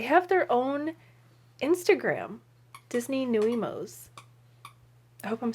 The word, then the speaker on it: nuiMOs: how to say it i think it's called new emos it's n-u-i-m-o-s small friends big style